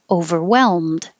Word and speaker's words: overwhelmed: I don't have to release the duh, but the L before the M can be tricky. So hold your tongue in the L position, overwhelm, and hold your L and keep making the L noise as you close your lips for the M. And then the L and the D are made in exactly the same place, so you're already ready for the D. Overwhelmed. If the next word was a vowel, you would hear the D.